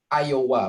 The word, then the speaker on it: Iowa: Iowa bacanya ya.